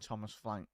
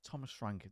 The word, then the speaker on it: Thomas Frank: go with a 1 nil for the brilliant Thomas flank H th Thomas flank sorry ch Thomas Frank there we go you did say it right